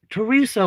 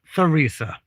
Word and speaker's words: Teresa: Mexico as well, and Teresa was spelled the same way as the French way, TH. And in French, you do not, like, you don't have the sound. This would be Teresa, not Theresa.